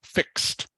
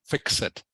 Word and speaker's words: fixed: Just this one here, it is pronounced fixed, not fix it. All right. It is pronounced like this is a T on the end, not ED.